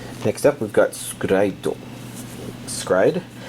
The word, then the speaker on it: s-CRY-ed: up we've got skrito scride is basically the way it's pronounced in the title catch the no the